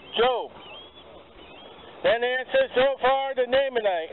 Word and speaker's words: Job: Some of you might pronounce it as Job. Probably run away. But Job.